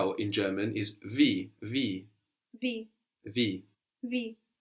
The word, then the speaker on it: wie: W-I-E-V, good. How? W-I-E. So I-E gives us that E sound, like in D, the feminine word for the.